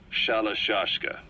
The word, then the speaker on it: Shalashaska: to hearing about it pronunciation had wound up as shallow shashka so half gulag have